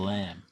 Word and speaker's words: lamb: And then he's the only bloke I've ever heard in my life who actually pronounces the B at the end of lamb.